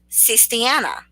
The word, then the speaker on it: Sistiana: So, Rachel, it is pronounced Sistiana. So, to any of y'all who do not know how to pronounce my first name, it is Sistiana.